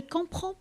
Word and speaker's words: comprends: Je ne comprends pas. Je ne comprends pas. الدي والأس في آخر كلمة comprend يكتبان لكن لا ينطقان.